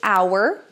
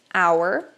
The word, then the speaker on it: hour: Sim, existem palavras em inglês que o H não vai ser pronunciado, como o caso de hour, hour, hora.